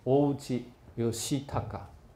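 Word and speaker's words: 大内義隆: 应该念成欧吉尤西塔嘎，这个诸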